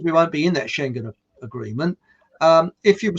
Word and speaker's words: Schengen: morocco which is not a sagan area and i know i've pronounced that wrong but you know there are there's there was that saying about them that's the word the schengen agreement well apparently uh because